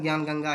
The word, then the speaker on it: ज्ञान गंगा: आपको स्पेलिंग में लग रहा होगा ध्यान गंगा है, नहीं, ये ज्ञान गंगा का जो है स्पेलिंग सही है। ये आप भी इसको ज्ञान गंगा ही पढ़ेंगे, प्रोनाउंसिएशन ज्ञान गंगा ही है।